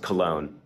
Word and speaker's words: Cologne: Now, Cologne is spelled K-O-L-N with little, abbreviations over the O, but it is pronounced Cologne. Like the cologne for men, So, I believe that